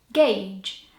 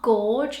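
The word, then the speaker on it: gauge: has a silent you so you say it gage not Gorge how I sometimes want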